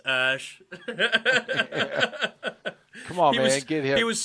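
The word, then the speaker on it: X Æ A-12: to hear the teacher it's pronounced ash that's how you pronounce it their name is ash and it's x a e a dash 12.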